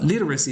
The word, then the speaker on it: literacy: the first syllable uh literacy is always accented on the first syllable and interestingly pronunciation is